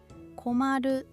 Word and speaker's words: 困る: 코와 마루를 붙이면 코 마루 코마루 일본어 발음인 코마르 코마루와 연결됩니다.